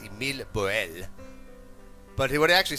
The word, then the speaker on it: Émile Borel: I believe his name is pronounced Émile Borel.